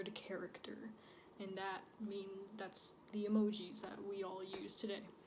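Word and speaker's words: 絵文字: So actually, the word emoji is a Japanese word. In Japan, it's pronounced emoji, not emoji.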